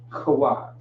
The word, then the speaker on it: Kawag: Kawag is how you would pronounce that. Kawag.